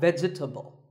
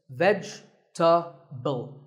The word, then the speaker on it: vegetable: a lot is vegetable it's not vegetable if you say it correctly there are only three syllables vegetable vegetable let's talk about